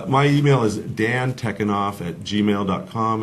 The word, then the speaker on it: Tekunoff: my email is Dan tekken off at gmail com it's my short first name dan tekken op te que un o FF spelled just like you pronounce it godfather changes the spelling